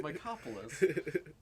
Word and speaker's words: Mycopolis: I'm like, no, it's Mycopolis. Like cop in the middle.